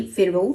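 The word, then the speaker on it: pharaoh: So that's actually फेराव। ठीक है? I think I miss pronounce it a little but that's fine.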